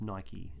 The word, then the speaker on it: Nike: one day and said it's pronounced nike like like spikey so he sort of said it deadpan kind of thing it's almost as if it was a strict defense to call it nike um but yeah so